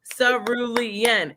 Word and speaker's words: cerulean: Let's phonetically say it. Cerulean. And that's how I learned it, because she clapped it out for me like the teacher she is.